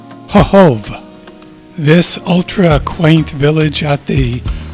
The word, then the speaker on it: Chochołów: No, it's not Chocholow. That's what I originally thought. It's something more like Chochołów.